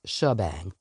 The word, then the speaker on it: shebang: pronunciations, not the whole shebang. Spelled like she, S-H-E, and bang, but yes, pronounced shebang.